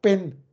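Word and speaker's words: בין: Dieses Ben ist ja der Sohn und dieses, wenn ich ein I dazwischen mache, das wird auch Ben ausgesprochen. Und das ist jetzt das hebräische Wort für innerhalb.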